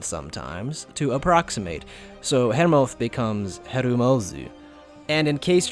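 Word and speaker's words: Hermóður: written as this, with that letter F at the end being pronounced as th, like in Nidhogg in the newest God of War game, not like Nidhogg in Final Fantasy XIV.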